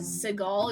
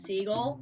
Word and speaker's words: Siegel: that his name was seagal it was pronounced bugsy seagal um but it's not it's pronounced the way that it's spelled which is seagull yeah i showed that